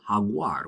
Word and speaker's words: jaguar: It's similar to the H in the word hut. And an example word is haguar, which is a jaguar.